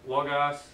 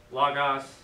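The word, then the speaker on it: λόγος: what's the word yeah there's an accent over the first syllable so it should be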